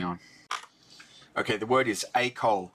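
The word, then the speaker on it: école: okay the word is AOL it's pronounced AOL and it means school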